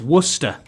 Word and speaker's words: Worcester: said it right Wester no it's it's wer Worster that's what I said yeah like like the sauce Worcester yeah Worcester sauce right